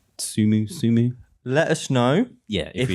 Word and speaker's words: T5UMU: and it's T5UMU, T5UMU, and I think it's Sumu. Okay. I think that's probably. I think it's the 5s with the S's. Yeah, that are the S's, and it's Sumu.